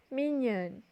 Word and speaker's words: mignonne: Elle est mignonne. M-I-G-N-O-N-N-E. Du champagne. C-H-A-M-P-A-G-N-E. C'est magnifique. M-A-G-N-I-F-I-Q-U-E. Maintenant, à vous de prononcer les syllabes qu'on peut voir.